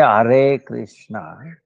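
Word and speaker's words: Hare Krishna: We say Are Krishna, Are Krishna. Are is when we pronounce it, Ara becomes Are, Ara, Are, when we say, pronounce it.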